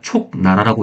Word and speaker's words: 촉나라: 총날에 총날이 아니라 촉나라죠. 스크립트를 얘가 촉나라라고 읽었는데 총나래는이라고 발음을 해버려요.